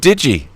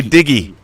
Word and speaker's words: Digi: You said Digi. You didn't say Diggy. Digi, you said it right. Diggy's wrong. You said Yeah.